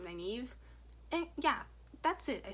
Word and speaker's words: Nynaeve: So again, Nynaeve, actually, that's how you say her name, Nynaeve.